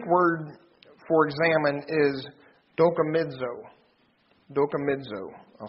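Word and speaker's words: δοκιμάζω: Dokimizo. I'll spell that for you if you'd like.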